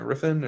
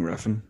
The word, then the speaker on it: Refn: Riffin or Nicholas Winding Refn, I think right? that's it. Right, Riffin. Yeah, okay. Um, should get better at being able to pronounce some of these odd names.